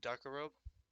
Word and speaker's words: Darkarobe: No, it's pronounced. Dargarobe. It's Darkarobe.